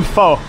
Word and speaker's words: Pho: You want some pho? Pho, foo. They pronounce it foo.